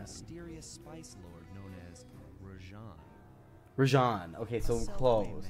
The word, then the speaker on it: Rajan: A mysterious spice lord known as Rajan. Rajan. Okay, so close. It's Rajan. I was saying Rajan. I was pronouncing it a little bit wrong, but I was right.